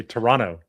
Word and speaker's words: Toronto: Do you know how they say Toronto? Toronto. E. No, they say Toronto. Toronto. There's no second T.